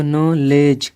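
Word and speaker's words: knowledge: आपको बताया होगा कि अगर के तुरंत बाद एन आएगा तो हम के का उच्चारण नहीं करेंगे, वैसा कि यहाँ पर हो रहा है, तो हम इस के का उच्चारण नहीं करेंगे, यानी इस के की ध्वनि नहीं निकालेंगे।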